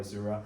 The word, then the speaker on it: Azure: I mean, there are different pronunciation, but I call it Azure.